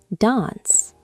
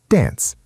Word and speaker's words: dance: Hmm, dance, right? The A sound is long. Dance. Yes. In British English, it is dance. Now, Americans say dance. The A is short. Dance. Very quick.